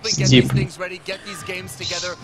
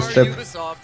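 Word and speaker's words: Steep: Стип. Почему? Ну, читается стип. Ну, это же просто английское слово степ. Почему? Там две. Окей. В чате просто написали с одной, как я так... Как слип, только стип.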